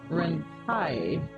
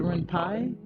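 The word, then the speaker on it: Ren'Py: the sides okay perfect in case you pronounce it Ren it's written Ren P so normally it's called renp but it's it's called like you say it rent pie or it's exactly the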